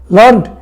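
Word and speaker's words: learned: We pronounce it एज लर्न, rhyme with created weighted ऐसे करके, उसके जो राइम्स है वो क्रिएटेड वेटेड ऐसे।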